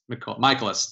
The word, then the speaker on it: Michaelis: look at the pronunciation, the first part of his name is just big time capital M-Y. And that's the thing that I picture now. I picture my when I see it, and then that gets me to the name.